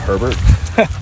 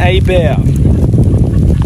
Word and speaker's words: Hebert: r and call that herbert and i know it's i know it looks weird it's spelled hebert but it's a cajun name so it's pronounced here